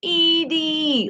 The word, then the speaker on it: Edie: You said you were walking outside and it's cold, but her name is pronounced E-D? Oh, like Edie, like Edie, Edie.